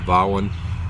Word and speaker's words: Vaughan: I showed on the other video, the Zeppelin by Vaughan, or Vaughan, I believe that's the way Mark, the Bremen Pipers, says that's the way you're supposed to pronounce it.